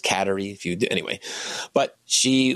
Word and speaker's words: Kateri: uh CER teoa or as she was said should be pronounced katerie if you anyway but